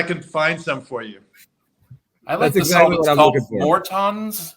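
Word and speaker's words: Morton's: find some for you more tons more tons okay a lot of a lot of people pronounce it mortens but are they okay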